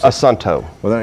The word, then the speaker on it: Assunto: Assunto. How do you guys pronounce it? Assunto.